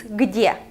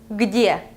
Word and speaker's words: где: It's где. Где. We have two consonants here, so I don't know, maybe it's a bit difficult for you to pronounce. Try again. Где. Где.